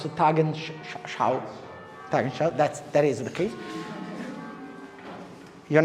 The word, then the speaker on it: Tagesschau: How do you pronounce Tagesschau? Tagesschau, that is the case.